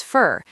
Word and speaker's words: for: To becomes ta. For becomes fur. You becomes ya.